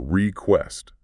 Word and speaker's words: request: The stress here is on the second syllable. Request.